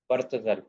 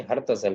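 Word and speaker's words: Herzl: ہے تھیوڈر یا تھیوڈر برتزل. برتزل نہیں، ہرتزل، سوری.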